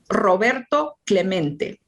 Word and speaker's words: Roberto Clemente: Robert, let's see, to Clement. It echoed in the near empty stands. Roberto Clemente was his name, and this is pronounced Roberto Clemente.